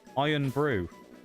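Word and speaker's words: Irn-Bru: Iron Brew. You suggested it earlier, Shags. Actually spelled IRN. No, actually spelled as like iron. And then brew is BRU. A Scottish drink, hence why it's spelt like that.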